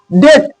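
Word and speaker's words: date: ए टी ई हो तो उसका उच्चारण ए होता है। ठीक है? जैसे डी ए टी डेट तो एटी आया ना तो डांट थोड़ी लिखते हैं।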